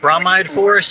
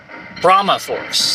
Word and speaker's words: Brahma Force: activate the elevator switch i was saying it wrong before though it's uh it's not i think i said bromide force it's actually brahma force just playing brahmaforce and